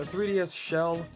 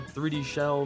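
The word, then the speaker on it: 3DShell: some normal stuff uh 3DS shell or 3D Shell technically it's how it's pronounced according to the developer this is just the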